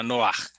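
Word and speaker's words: נֹחַ: Em hebraico fala Noar. O nome dele é Noar.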